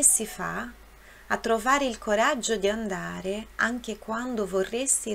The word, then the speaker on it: coraggio: Na palavra coraggio. Coraggio, são dois Gs, então tem aquela pronúncia um pouquinho mais forte.